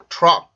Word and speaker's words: truck: 그래서 이 발음을 할 때는 트럭 이게 아니라 truck, truck, truck 이렇게 발음을 해줘요.